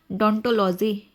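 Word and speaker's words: odontology: डोंटोलॉजी। यहां पे ओ साइलेंट है।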